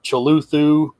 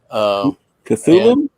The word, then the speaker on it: Cthulhu: One is this monster Cthulhu. Cthulhu? I pronounce everything wrong.